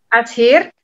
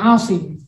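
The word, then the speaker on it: عاصم: Terus muridnya itu Nasir bin Ashir. Dia yang memberikan tanda-tanda dalam titik gitu Ustadz? Ya, Nasir bin Asim.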